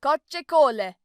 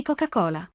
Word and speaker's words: Coca-Cola: So, due cocce cole. It's a proper noun. You don't have to pronounce it plural. Just say 2 lattine di Coca-Cola.